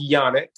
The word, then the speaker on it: Janak: So again, her last name is pronounced Janak.